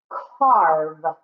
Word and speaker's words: carve: This one is a little bit tricky because the E is silent, but there's no long special sound or no long vowel.